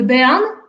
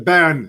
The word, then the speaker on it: Béarn: The Beaune near Laron. The Béarn. The Béarn. So that goes to show my pronunciation so awful. The Béarn.